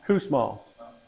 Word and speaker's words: Kussmaul: Kussmaul. Spell it?